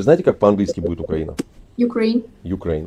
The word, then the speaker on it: Ukraine: Ukraine. Ukraine. Ударение на какой слог? Так я вам говорю на русском языке, не на английском. Вы русский язык не знаете, мы уже это поняли. Ударение идет на второй слог.